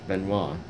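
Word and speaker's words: Benoît: Lawrence River to Montreal it must have been make a pronounce similar to the old French Beno which is b n oit t they didn't have any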